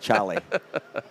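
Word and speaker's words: Cholly: That is the correct pronunciation. C H O L L Y. Charlie.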